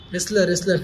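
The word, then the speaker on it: wrestler: वॉज रेस्लर earlier, रेस्लर नॉट रेस्लर, डब्ल्यू is silent.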